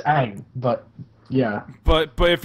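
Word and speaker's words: Aang: like it's just like okay how do you pronounce the main character of Avatar's name Ang it's Ang but yeah but but if you're M night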